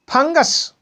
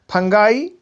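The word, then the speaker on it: fungi: इसके बाद में है फंगस। फंगस का अर्थ होता है फफूंद, और इसका बहुवचन हो जाएगा फंगाई या फंगी, दोनों उच्चारण होते हैं।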